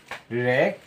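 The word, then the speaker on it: wreck: সম্পূর্ণ হিসল বা শীষ ডবলিউ এর পর যদি আর থাকে সেই ক্ষেত্রে ডবলিউটি সাইলেন্ট থাকে অর্থাৎ ডবলিউর পর যদি আর থাকে এখানে ডবলিউ আমাদের সাইলেন্ট থাকে অর্থাৎ ডবলিউ এর উচ্চারণ হয় না এরকম আমরা পাঁচটি এক্সাম্পল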